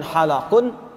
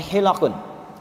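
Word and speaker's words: حِلَق: Perhatikan cara bacanya. Bukan halaqun tapi hilaqun.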